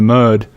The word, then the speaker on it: Merde: English say m so when you when you talk about it you say year in the m in the M yeah